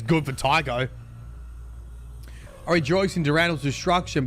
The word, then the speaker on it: Tycho: I personally, one word, 2 syllables, rhymes with psycho.